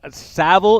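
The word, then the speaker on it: Saville: how we say the last name okay because savile is the way that i've always pronounced it and and i didn't want to just default to that so seville hey uh congratulations how are you and uh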